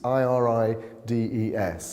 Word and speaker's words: irides: through this process is irides i-r-i-d-e-s it looks like i-rides but it's pronounced irides it's a latin word so what we're looking